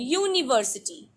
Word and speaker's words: university: because of its pronunciation or university because of its pronunciation university y like pronunciation of one w like pronunciation one w like pronunciation